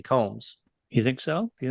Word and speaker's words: Combs: Mordred save us Jeffrey Coombs is it Coombs or Combs I say Combs you say Combs I thought you maybe I was saying it wrong but I think it's Jeffrey Combs you think so do